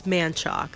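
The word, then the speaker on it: Manchaca: It's spelled like Manshasha, but it's Manchoc. That's what our Uber driver told us.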